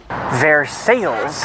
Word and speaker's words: Versailles: So, as much as it pains me, the town is in fact actually pronounced Ver Sales. I don't think I've ever been to Versailles.